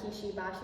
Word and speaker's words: Kishi Bashi: It's to the song Honeybody by Kishi, Bashi. I hope I'm saying that right. Someone correct me if not, please. I checked, this pronunciation is correct.